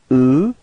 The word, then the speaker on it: eux: So masculine form is e, alright, final X is not pronounced, e, repeat, e, okay, and then feminine form, elle, final S is not pronounced, elle, repeat, elle, okay.